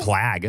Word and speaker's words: plague: It doesn't rhyme with flag.